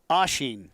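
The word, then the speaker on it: Oisín: us real quickly again oshin right that's how we say it how do we spell it o-i-s-i-n okay there's a little photo on the eye and that's and that's gaelic yeah it's gaelic yeah and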